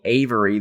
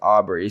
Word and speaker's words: Aubry: english but no um he got my name wrong and called me avery the entire time even though my name is aubry so it's not very close at all and basically all that